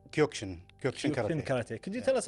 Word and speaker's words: Kyokushin: So, let's talk about uh your uh this something maybe people are unfamiliar with it is Kaioshin pronounced Kyukshin Ky.